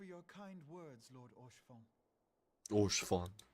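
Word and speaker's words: Haurchefant: Orshfon. That's how you pronounce it, Orshfon.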